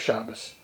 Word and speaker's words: Shabbos: The Bachram are officially here from 7 in the morning to 10 at night, every day except Shabbos. That's the European pronunciation of Shabbat.